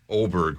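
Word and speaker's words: Åberg: Oberg, is that how you pronounce his Oberg, name? yep. Okay. Oh, Hawk's never heard of him. It's spelled with an A, but it's pronounced with an O.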